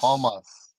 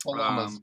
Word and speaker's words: Palmas: 31st 8m Paul paulas Palmas Palmas not palus Palmas come on man well